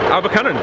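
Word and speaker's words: Abercynon: Look, Paul's going to quickly tell us how to pronounce it. Abercunnan.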